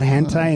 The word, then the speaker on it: hentai: I didn't know about hentai until this guy gave it to me.